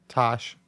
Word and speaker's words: Tash: okay now help i think i'm going to pronounce this wrong is it tash or tash sultana tash like t-a-s-h yes it's star player australian she's